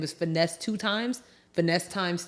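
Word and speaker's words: Finesse2Tymes: think his name is Finesse 2 times. Finesse times 2. Finesse? No, Finesse. No, it's literally Finesse and then the number 2, TYMES, I believe, allegedly.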